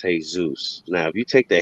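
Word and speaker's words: Jesús: the word jesus but if you say it in spanish it's hey zeus now if you take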